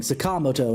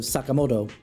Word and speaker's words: Sakamoto: It's just that the emphasis is on the wrong thing, Sakamoto instead of Sakamoto, you know.